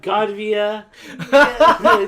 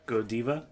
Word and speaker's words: Godiva: I only want Godvia chocolate. Goodvia, whatever. It's spelled like God. That's how I pronounce it. Godiva. Godiva? Godiva? Godiva. I prefer Godiva.